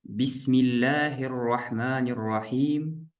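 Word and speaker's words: بسم الله الرحمن الرحيم: Вот здесь Бисмиллахир-рахманир-рахим. Мы здесь васлю не читаем. Мы сказали, в середине двух слов не читается.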